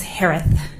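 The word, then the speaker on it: Herath: Last name is pronounced like with a lisp. It's Hearth.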